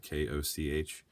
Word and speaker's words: Koch: This was directed by Marcus Koch, I believe he pronounced his last name, Koch.